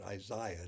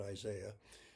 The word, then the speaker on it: Isaiah: And Isaiah Berlin, and he does pronounce it Isaiah, not Isaiah, said Herzen was the